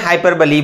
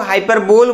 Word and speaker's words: hyperbole: में क्या बोलते हैं, हाइपरबोली बोलते हैं। दोस्तों, अब इसको आप बहुत सारे लोग हाइपरबोल बोलते हैं, जो कि बहुत ही गलत है। इसका जो प्रोनाउंसिएशन होगा वो है हाइपरबोली, यानी हाइपरबोली।